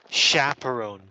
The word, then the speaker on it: chaperon: adult who accompanies children it comes from the French so we pronounce this word chaperon three chaperon in myself